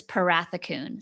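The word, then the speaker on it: Pharathikoune: me how to spell it or how to pronounce it because so my maiden name is parathakoon spelled p h a r a t h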